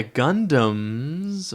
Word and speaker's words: Gundam: slower phone so yeah Gundams are cool and they're I um the the word Gundam rhymes with fundom doesn't matter okay so